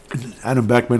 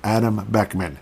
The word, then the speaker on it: Adam Beckman: Adam Beckman, obviously. I keep calling him, yeah, okay, I did pronounce the name right. Adam Hartman, Ryan, yeah, Adam Beckman.